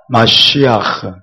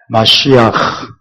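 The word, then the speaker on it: משיח: 중요한이 친구들은 히브리어로 하면 굉장히 좋습니다 히브리어 원래 발음이 때문에 자 함께 볼까요 예슈아 예슈아 마시아 마시아 바라면 어 목 뒤에서 가래를 듯이는내는 그런 발음이에요 해봅시다 마시아 마시아 마 예 마시아 그다음에 엘로힘 엘로 루하코 루하코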